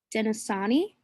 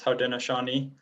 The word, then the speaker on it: Haudenosaunee: I believe it's Haudenosaunee is the pronunciation.